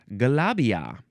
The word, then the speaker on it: galabia: You can spell it G A L A. Oh, no. Actually, Galabia. There's no R. Galabia.